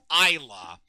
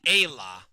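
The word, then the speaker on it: Ayla: Also another interesting quirk with Chrono Trigger the musical is that for whatever reason they pronounce this character's name as Isa and that just seems wrong to me. It's clearly Ayah.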